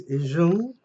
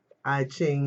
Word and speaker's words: I Ching: Okay, it's Izhung in Beijing, I Ching in some places that want to pronounce it American, but anyway, it answers all questions.